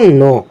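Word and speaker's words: know: তোমাকে বলবে ডু ইউ নো এই যে কে এন ও ডাব এটির উচ্চারণ হলো নো আর বাংলা জানা ন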